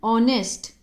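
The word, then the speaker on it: honest: किसका आ रहा है ओ का एच साइलेंट है यहां पर एन ऑनेस्ट एच साइलेंट है इसीलिए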